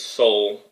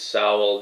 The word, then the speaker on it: Sowell: rates love Thomas sow or pronounces its soul I've heard it pronounced soul i should say which bothers me because i think it reads sallow very nicely but i guess i'm wrong so Thomas so it's